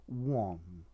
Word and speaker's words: wan: not well it's in as an adjective it's one okay there's actually an acronym with a different uh pronunciation but i'll get to